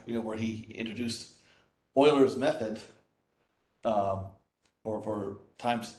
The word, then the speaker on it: Euler: love I was like whenever someone refers to vote very famous and political mathematician Leonard Euler instead of Euler yeah yeah that just